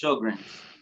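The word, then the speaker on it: Sjögren's: way it's spelled, but it's really just show and like a grin, it's Sjogren's.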